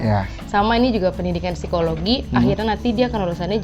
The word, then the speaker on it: Psikologi: Iya, Fakultas Pendidikan Psikologi di Universitas Negeri Jakarta. Program studinya S1 Psikologi. Bacanya gimana sih? Psikologi apa psikologi? P-nya nggak usah dibaca.